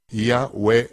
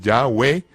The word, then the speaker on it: Yahweh: Fonéticamente se pronunciaría correctamente Yahwe e Yahwe, donde es la Ya, he es a, va es como una vocal y he e Yahwe, Yahwe, no literalmente Yahweh, sino Yahwe.